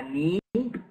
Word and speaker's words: knee: Whenever you have a K and a N, about a word that starts with K and N, don't pronounce the K.